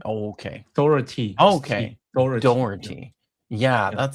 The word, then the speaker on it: Dougherty: His last name is pronounced as Doherty, not Doherty. Oh, okay. Doherty.